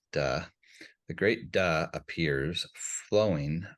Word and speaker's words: Dao: So the first line of chapter 1 reads, "The great Da," and it looks like D, but it's pronounced Da.